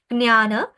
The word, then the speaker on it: জ্ঞান: বাংলায় হয় সংস্কৃততেও হয় তাহলে জ্ঞান জ্ঞান জ্ঞান শব্দটা এভাবে উচ্চারিত হয় জ্ঞান এই শব্দটা হচ্ছে অকারান্ত